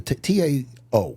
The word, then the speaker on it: Tao: The T-A-O.